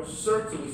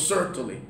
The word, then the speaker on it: Sertoli: He said, "I hate the way you mispronounce the man's name. The man's name was Sertoli." So I always say Sertoli cells. And hopefully there's hundreds of students now, people all across the country, that pronounce it right. The Sertoli cells, not Sertoli.